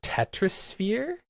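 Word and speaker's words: Tetrisphere: Uh, that's like it's supposed to be sphere like s p h e r e, but it's spelled tetris and then capital p h e a r.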